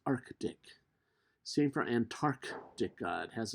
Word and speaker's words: Arctic: how it's spelled and listen to how it's pronounced many people say arctic no it's not arctic it's arctic same for antarctic god has a c double